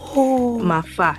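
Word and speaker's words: 麻花: Mafa. Yes, we call it mafa. Yeah, because of the Cantonese pronunciation.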